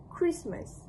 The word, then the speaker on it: Christmas: Interestingly, although the spelling of the word contains the letter the alphabet T, the official IPA trans transcription does not include a T sound. This reflects the standard pronunciation used in British English where the T is typically eluded or left out in normal speech.